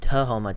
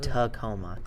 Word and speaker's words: Tahoma: voice i misspoke it's tahoma t-a-h-o-m-a not tacoma okay both both in washington both just a little outside of seattle but not tacoma the next episode of